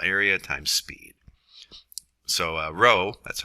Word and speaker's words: rho: times cross sectional area times speed so uh rho that's how this is pronounced it's the density in air so at